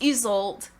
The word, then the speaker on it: Isolde: It's Isolde by Scarlett St. Clair. She put a little like video out on YouTube about how to pronounce some of these names, and her name is Isolde.